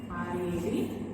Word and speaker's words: read: Same spelling but read it, pronounce it differently. It is read. R-E-A-D, read.